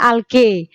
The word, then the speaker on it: algae: makanan sendiri contohnya adalah Alga sebenarnya bacanya Yang lebih Yang lebih tepat adalah algae algae tulisannya kemudian ciri yang ketiga